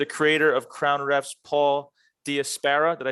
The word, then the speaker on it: Diasparra: creator of Crown Refs, Paul Diasparra.